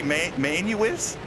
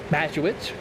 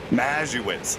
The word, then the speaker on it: Mazowicz: Did you say Manuwitz? Mazowicz. Mazowicz. Man, I've been saying this wrong this whole time.